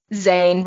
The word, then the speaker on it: Zane: that's i was like zayn rhymes with sane which is something he's